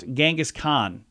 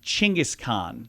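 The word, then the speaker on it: Genghis Khan: saying wrong so uh how about gangas Khan a lot of people say it with a G like great but the Mongols actually would have called him like chingis Khan chingus yeah okay so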